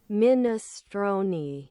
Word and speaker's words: minestrone: It's pronounced minestron. Minestroni. Minestroni. Minestron. Minestron. And they're actually smart. That's the Italian pronunciation. Minestron not minestron it's minestron min to make it sound as bad as possible. It's a silent e just like provolone min.